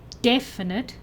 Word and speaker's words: definite: 'Definite', is like cucumber.